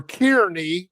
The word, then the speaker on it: Kearney: Us Illinois people would pronounce that Kearney or Kearney, but I knew you said Kearney. In Nebraska, they do it because it's an EY rather than NY. Kearney, New Jersey.